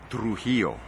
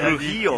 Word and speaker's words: Trujillo: This is an exclusive, the real pronunciation of his last name. Trujillo. Oh, right. Come on, you can do it. Trujillo. Now you got Trujillo. To say, you got to Trujillo. Say. Trujillo. You gotta roll those R's.